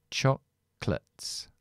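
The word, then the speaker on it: chocolates: Empiezo con la l Y esto no es light ni nada de eso porque esto es una sílaba no acentuada es una shua una t y una s Entonces es choclates de la k uno con la l ch chocat chocolat Okay ya veremos una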